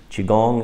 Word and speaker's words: Qigong: Qigong is pronounced Qi, as in C-H-I, and Gong, rhyming with long, as in G-U-N-G.